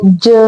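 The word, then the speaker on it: ج: Now sound of this letter is like J in judge J sound.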